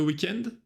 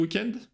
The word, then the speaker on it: week-end: T'es resté chez toi pendant le week-end? Тут тоже замечаем, не tu es resté, а t'es resté в устноречии. И запоминайте произношение английского слова weekend. На французском weekend. Weekend, pendant le week-end.